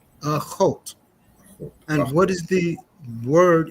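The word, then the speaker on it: אָחוֹת: Akot. Achot.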